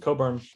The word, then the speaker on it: Cockburn: So one of the example of these restrictive covenants was on the left, you see Joshua and Pauline Coburn. It's spelled Cockburn, but pronounced Coburn.